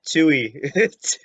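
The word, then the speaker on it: Teui: rabati it's not too it's t-e-u-i to you yeah it's a silent e oh you know what i mean all right tui yeah exactly exactly all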